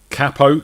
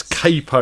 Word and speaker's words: capo: new headphones new capo capo good you said it right that's good well it's the english way in it the proper way dave of course none of this capo laugh that tim comes